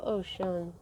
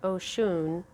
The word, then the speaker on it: Oshun: yay okay i love ocean her name sounds like ocean but the way it's spelled i say it oh shoon okay so this is